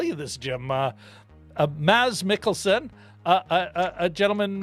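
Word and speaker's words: Mads: this jim uh a maz mickelson uh a a gentleman contactless nygaard commented on that video and said yeah you did pronounce it correctly uh the d is nice as ds should be really it was just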